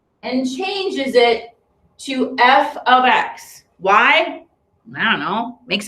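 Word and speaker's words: f(x): so just to recap f of x the value of f at x that's how you say it it's not f times x okay it's the value of f at x or f of x you say it either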